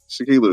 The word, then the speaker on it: Shaquilla: sorry if I said your name wrong. I'm No, sorry. Shaquilla is right. Shaquilla is right.